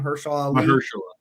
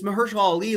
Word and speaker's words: Mahershala Ali: Mahershala Ali. Mahershala Ali.